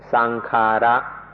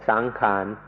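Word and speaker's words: saṅkhāra: if you can remember the Pali word, which is sankhara, sankhara. ในประเทศไทยเราเปลี่ยนเสียงนิดหน่อยเป็นสังขารสังขารในภาษาไทย Thais make it a little easier to pronounce and say sangkhan, sangkhan.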